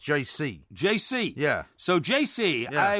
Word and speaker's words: Geise: well, the name is spelt Geise, but Matt says it's pronounced JC.